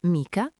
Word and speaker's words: mica: La c in mica è morbida. come una cieca leggera e l'ultima parte con l'apostrofo, quindi si fonde bene con la parola prima, mica l'ultima.